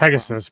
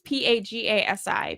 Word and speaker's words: Pegasi: I think I'm pronouncing that Pegasus, wrong. probably. No, it's Pagasi. Okay. Pegasi. Yeah, I saw that somewhere on an image or something.